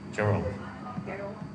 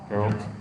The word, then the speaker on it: Geralt: Geralt. Geralt.